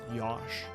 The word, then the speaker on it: Joshua: So they just spelled it Josh, but say it's supposed to be pronounced Yosh. Or Joshua, because they always call him Joshua.